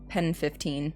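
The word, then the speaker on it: PEN15: Um I'm assuming it's pronounced penis, but it's pen 15.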